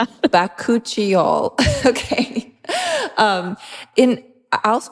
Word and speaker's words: bakuchiol: Um, but I think that we settled on bakuchial. We've we looked it up online and we are pretty confident in our pronunciation.